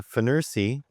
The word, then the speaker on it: Fnirsi: And uh if you don't know who Feners is, uh Feners, it's spelled like that.